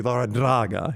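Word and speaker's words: Larrañaga: saying actually you know my name's been mispronounced for 60 some odd years it's actually lara draga you know so then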